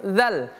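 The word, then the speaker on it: ذ: Perhatikan pada huruf dzal. Fattakhiz. Fattakhidz. Infal. Dza. Dzi az idz uz. Cara membacanya ujung lidah kita ditempelkan ke gigi seri atas. Dza dzi ujung lidah tempelkan ke gigi seri atas dza. Kemudian sebutkan huruf dza. Dza.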